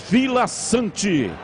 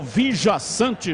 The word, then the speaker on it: Villasanti: e para o paraguaio Matias Villasanti, ou Villasanti, já que são 2 L's, como queira aí na pronúncia.